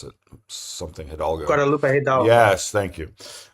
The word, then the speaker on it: Guadalupe Hidalgo: of the Treaty of, what I'm going to mispronounce it, something Hidalgo. Guadalupe Hidalgo.